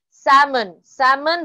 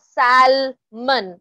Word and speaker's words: salmon: Salmon. Remember, it's not salmon over there. L is silent.